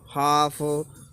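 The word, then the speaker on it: half: देख लेते हैं जैसे कि should, should, could, हाफ, काफ, पॉम, arms. तो जिसमें जब भी एल आ रहा हो तो ये हमारा बोला नहीं जाता।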